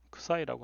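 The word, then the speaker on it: ξ: 이거를 크사이라고 합니다. 크사이라고 읽습니다.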